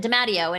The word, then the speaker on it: DeMatteo: I know her name is spelled DeMatteo, but we went through this whole thing and she pronounces it DeMatteo, and who am I to take her name from her?